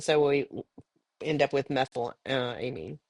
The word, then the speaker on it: methylamine: we end up with methyl Amin or methylamine is how how it's pronounced and then we have